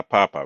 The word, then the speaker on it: papa: no accents just La Papa right um typically if a word in Spanish ends in a vowel we we stress the the syllable right before the last one right um this